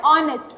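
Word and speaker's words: honest: सो आप ऑनेस्ट देखिए, ऑनेस्ट में जब देखें तो लेटर तो एच है, राइट। लेटर क्या है आपका, एच, बट प्रोनाउंसिएशन करने में क्या आ रहा है, ऑनेस्ट, ओ आ रहा है, राइट।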